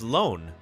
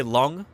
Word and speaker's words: long: just so you aware long should be pronounced as loan and Mandarin okay interesting interesting you know as paleontologists usually when they're it's in a taxon name like this A genus name long usually we say long but maybe I should